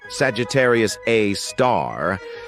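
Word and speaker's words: Sagittarius A*: an exception we've got Sagittarius A which is pronounced Sagittarius A star this space monster is mostly dormant and rarely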